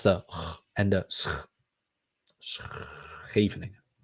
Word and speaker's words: Scheveningen: If you want to learn Dutch, better pronounce the and the Scheveningen. Scheveningen.